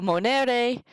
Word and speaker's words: monet: point it out so Monet the accent is on the N e because in Latin if that second to last syllable is long if that's where the accent goes if that is short then the accent goes back one further the accent is that